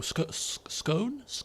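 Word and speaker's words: Skåne: Okay, he's got an ally with Skane, but I mean, I think that's pronounced. Is it an O? Scone? Scone with jam and cream? I think it's an O.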